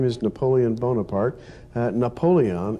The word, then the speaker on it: Napoleon: name is Napoleon Bonaparte Napoleon is simply the English Way of pronouncing the French male up only own